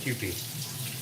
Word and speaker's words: Kewpie: Noreen says it's pronounced Kewpie. Okay, Kewpie, heard.